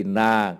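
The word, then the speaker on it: إنَّ: itu kitabnya ada tandanya kalau ada Hamzah dibawa Alif ini Ina kalau di atas itu bacanya Ana Kalau tidak ada kode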